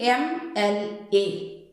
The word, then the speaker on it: MLA: See, M-L-A. Here M is a consonant, but when we are pronouncing it, we pronounce M as E-M.